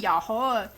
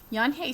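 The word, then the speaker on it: Unhei: hey means grace grace everyone tried to say it ya ya yahi yahoo yan hey said her name slowly and clearly soon the kids began to say it better leave even mr kokotos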